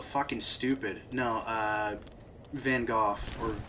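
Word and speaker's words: Van Gogh: Uh, Van Go or Van Go or Van Go, depending on how correct you want to pronounce it. Van Go if you're English and a hoy toy. Uh, Van Gooff if you think you know other languages but you don't.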